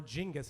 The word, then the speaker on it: Genghis: look up okay besides Genghis Khan's children or jingis is actually how you pronounce it but you should look